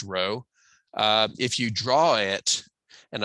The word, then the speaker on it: rho: r is it's pronounced it's spelled rho it's pronounced row if you draw it